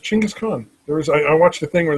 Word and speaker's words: Chinggis Khan: And I mispronounced Genghis Khan. It's actually Chinggis Khan, but whatever. Really? Yeah, it's actually pronounced Chinggis Khan.